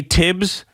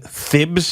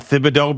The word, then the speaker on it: Thibodeau: on that as well i want to say tibs but i end up saying thibs and thibodeaux because i believe that's the way it's pronounced i think most people refer